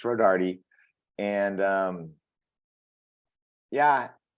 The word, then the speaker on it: Rodarte: they they just say Road Dart so so you kind of grow up because they don't pronounce the E because they think it's silent and so so all